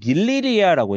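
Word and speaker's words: 닐리리야: 이렇게 되는 거고 뭐 닐리리아라고 했을 때 닐리리아. 우리가 이거는 어떻게 발음되는 거야?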